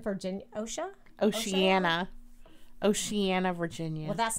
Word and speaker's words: Oceana: Naval Base in Oshan, Virginia. Oceana, Virginia.